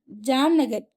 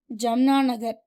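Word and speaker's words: Jamnagar: ஸோ ஜாம்நகர் ஜம்னா நகர் sorry ஜாம் ஜாம் நகர் தான் ஜம்னா நகர்னு நான் pronounce பண்ணிட்டேன். ஸோ இட்ஸ் ஜாம் நகர்.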